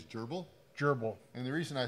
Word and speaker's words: GRBL: Actually, I think the correct way to say it is gerbal.